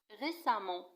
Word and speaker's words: récemment: récemment نفس الشيء تكتب récemment وتنطق récemment وتعني مؤخرا.